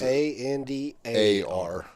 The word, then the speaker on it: Xandar: Yeah, so it is Xandar. Okay, so it was spelled with an X?